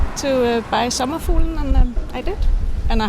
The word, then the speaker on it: Sommerfuglen: I'm having a hard time pronouncing it. It's called Sommerfuglen and it means butterfly. Sommerfuglen?